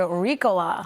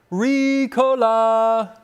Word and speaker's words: Ricola: Hey, flu season just became fashionable with a new line of scarves from Swiss cough drop maker Rola. It's actually pronounced Aaron. Recola, right?